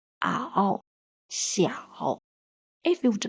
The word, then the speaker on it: 小: The pinyin of the character 小 follows the third tone, so it pronounces as xi, i, ao, 小.